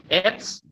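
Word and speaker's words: עץ: आइन जो है वो साइलेंट है, उसके नीचे क्या है? सेरे है। आइन साइलेंट है, उसके नीचे सेरे है। सर। और फिर बाद में ये है अपना शादी है, शादी सोफित है। शादी सोफित जो आइन का खुद का साइलेंट है, उसके नीचे जो लेटर है अपना सेरे, तो उसका ई आएगा। और जो शादी सोफित है उसका टी एस आएगा। तो आप उसे क्या पढ़ोगे? एट्स। जी, राइट, एट्स।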